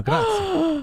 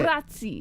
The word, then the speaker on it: grazie: Yeah, you did say grazie. That's a grazie. Grazie. No, you go grazie. Grazie. Grazie. That's you're rolling your R.